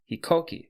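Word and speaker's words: 飛行機: the Japanese name for Aeroplane and that is hikoki hikoki is spelled h i k o k i and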